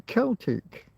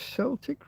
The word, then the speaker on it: Celtic: Do you guys Do do the Irish pronounce it as Celtic rather than Celtic? I thought it was only Glasgow Celtic that was a soft sea.